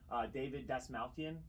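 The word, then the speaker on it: David Dastmalchian: David Dasmalkian. Yeah. Is that how you pronounce that?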